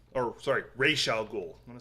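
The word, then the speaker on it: Ra's al Ghul: just turned it over Deadshot Killer Croc uh Rosal ghoul or sorry Ral ghoul I'm gonna say it correctly if I'm gonna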